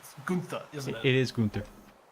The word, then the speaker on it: Gunther: which I believe you've already given to Gunther. I'm saying his name wrong. It's Gunther, isn't it?